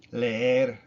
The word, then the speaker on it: leer: It's e, leer, leer. It's not le, er, even though there's two e's in it. Le, er. No, it's leer, leer. You do kind of notice a difference between le and er, but they're just put together, leer.